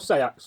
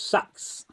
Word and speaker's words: seax: In the Anglo-Saxon tongue, it should be pronounced Seax. In the Viking tongue, it will pronounce Sax. So there's a difference between the two languages.